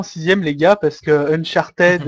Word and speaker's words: Uncharted: vous savez pas que le ed ne se prononce pas en anglais retourner en 6e les gars parce que Uncharted Uncharted non c'est unchart le